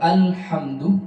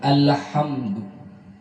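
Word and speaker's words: الحمد: Hati-hati pada alhamdu, lamnya tidak boleh mantun, yang dikenal dengan tawallud, dilarang. Karena ini bukan huruf qalqalah, dilarang mantun, bukan alhamdu, tapi alhamdu.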